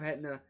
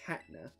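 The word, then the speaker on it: Hatenna: Oh, we did already have Hetna. 159, 400 though? We absolutely take those. Let me make sure that it's, you know, where's H? There it is. I always forget it's pronounced Hatna.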